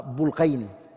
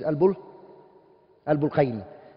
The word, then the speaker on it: Al-Bulqayni: There's 2 ways of saying it. Some people call it Bulqayni, I'm a Bulqayni. And I think the correct way to say it is Al-Bulqayni.